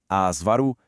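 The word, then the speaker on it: avaro: O jeito certo de falar é asvaru, filantropo, ibero e, claro, voltando lá na nossa primeira pergunta, recorde. Em todas elas, sem exceção, a força está na penúltima sílaba.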